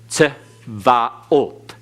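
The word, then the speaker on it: צבאות: So it's tz, tzvaot. Tzvaot. Okay, tzvaot. Again, you have to pronounce it to where you come to the end with the accent on the end.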